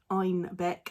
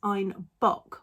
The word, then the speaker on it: Einbeck: The Bavarian accent pronounced Einbeck as Einbock, which actually means billy goat.